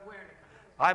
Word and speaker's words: Guernica: Guernica is how you say it. Oh, Guernica? Guernica. My Spanish is lousy. So is my Japanese. Still Guernica. Guernica. Okay. Looks like Guernica to me, but whatever.